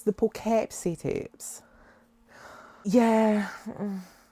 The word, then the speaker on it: Poughkeepsie: The Poughkeepsie Tapes. But I keep wanting to call it the Poughkeepsie Tapes because that's how it's spelled, but it's the Poughkeepsie Tapes.